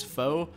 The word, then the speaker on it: faux: that's a funny word faux it's like fall p f a u x fo uh why it's spelled like that not really sure you